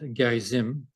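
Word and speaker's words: Gerizim: Uh it should be mentioned uh that uh the Samaritans who live on Mount Gizim as it's pronounced uh had a second temple there and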